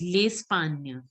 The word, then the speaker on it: L'Espagne: It is L apostrophe Espagne, Espagne. So you have to pronounce it as L'Espagne.